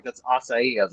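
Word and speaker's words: açaí: for the longest time i thought it was a kai and i went somewhere like that's acai i was like oh yeah it's acai it's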